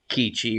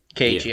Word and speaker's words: Keiichi: I liked every time the girls went psychotic, and I liked the eventual, the main character, Kichi, or is that how you say his name? KG. Keiichi.